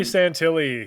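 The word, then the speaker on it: Santilli: Um, so Ray, is it Santilly? Right. Ray Santilly is how you say? Yeah, Ray Santilly.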